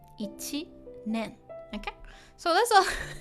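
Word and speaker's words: 一年: And this one, ichi is one, and nen. Now it's pronounced nen. So year, so a year. Ichinen. Ichinen.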